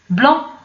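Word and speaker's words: blanc: بلون هي ابيض، دونك هاد السي ما كايناش.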